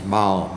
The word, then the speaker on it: Baal: or Baal, and I tend to pronounce it Baal, and I had a friend who said, "No, you make it sound like it's somebody's intestines." Well, it's not supposed to be. It's Baal, B-A-A-L.